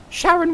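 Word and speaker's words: Charon: I not see that Sharon rhythm s and either Sharon Sharon or Karen depending on how you pronounce it with a see is the ferryman person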